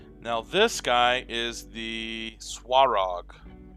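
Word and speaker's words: Svarog: Now this guy is the Swarog. S-V-A-R-O-G, but the V is pronounced like a W from what I understand.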